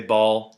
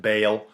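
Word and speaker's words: Baal: idol dedicated to Bale b a a l i say ball apparently it's pronounced Bale whatever anyways the important part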